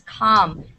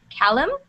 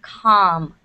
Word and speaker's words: calm: people have said it Callum so you don't you don't pronounce the L that strongly it's calm okay calm exactly to